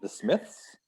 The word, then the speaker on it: The Smiths: this myth this mix the smiths yes this myth oh the h sound that one's hard to say yeah yeah the s and the th together the smith the smiths i don't know that